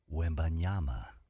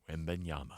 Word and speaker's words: Wembanyama: how do you pronounce that name? Victor Wembanyama. Wembanyama.